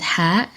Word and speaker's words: ح: Ha doesn't have an equivalent in the Latin alphabet, so be careful when pronouncing it. It comes from down the throat as if you're making fog on a window.